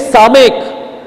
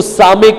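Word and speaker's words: סָמֶךְ: इसको सामेक करते बोलते हैं। दैट इज लेइंग हैंड्स, उसके ऊपर रखा गया है, और इसको प्रोनाउंसिएशन में क्या आएगा? यस करके साउंड आएगा।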